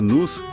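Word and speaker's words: νοῦς: Ele até usa o termo grego no que se pronuncia nus, para mente ou intelecto divino envolvido nisso.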